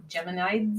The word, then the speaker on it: Geminids: say it right it's it's basically Gemini with a DS like geminids good idea I always